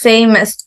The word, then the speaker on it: famous: first syll not famous yes famous first syllable and then different first